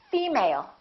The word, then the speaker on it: female: you say female or did you say female once again it's the first one female let's look at the